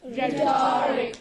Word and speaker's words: rhetoric: So many words are there in the combination R-H at the beginning of a word, where this letter H is Silent.